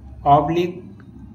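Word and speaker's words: oblique: जब किसी वर्ड के लास्ट में क्यू यू ई लेटर एक साथ आता है तो क्यू यू ई में क्यू का उच्चारण हम का से करते हैं। जैसे यूनिक, ऑब्लिक, मॉस्क, फिजिक।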